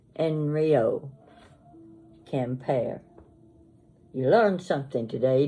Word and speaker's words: Henriot: t it looks like henriot that's in English but it's pronounced enre you don't pronounce the h and you don't pronounce the T at the end enryo campare you learned something